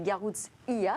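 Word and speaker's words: Garoutzia: qui a hacké garruzzia il faut prononcer garouze iya d'ailleurs c'est une pièce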